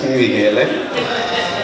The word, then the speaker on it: Michele: Italian version of Michael, which can only be pronounced with a cheesy grin. It's Michele.